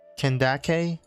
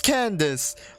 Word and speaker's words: Candace: you dipped what's her how do you really pronounce her name over here kendake Candice that sounded like Candace it is Candice come on you two